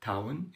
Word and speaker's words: town: hotel supermarket مدينة صغيرة town ال o u وال o w قلنا قبل كده بنطق ايه او فقولي town مركز تسوق shopping mall